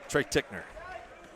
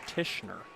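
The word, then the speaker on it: Tichenor: throw line for two Trey tickner that is actually Mark I'll help you out that is actually even though it's spelled that way it's pronounced tishner tishner thank you once again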